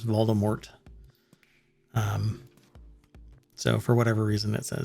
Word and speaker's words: Voldemort: the way i mean he was pronouncing it voldemort and that just drove me nuts and because i've always heard it as voldemort um so for whatever